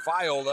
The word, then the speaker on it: viola: had a little debate whether you pronounce it viola or viola. And she said, Mr. Judkins, it's viola.